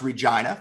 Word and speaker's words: Regina: uh we're both from regina saskatchewan uh it's pronounced regina for all international listeners and uh we both